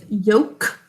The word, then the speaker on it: yolk: actually, when we say yolk, what sound are we saying for the O? Oh, it's vowel sound, so we have to underline it. That's right. O says its name, so underline it.